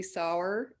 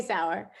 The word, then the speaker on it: Sauer: to uh coordinate sauer am i pronouncing it right flower yeah he just goes